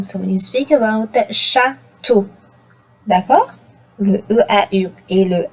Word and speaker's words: château: So when you speak about château, d'accord?